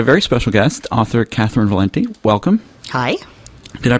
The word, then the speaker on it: Valente: shocked that my name is not pronounced Valente so it's Valenti it's Valenti great um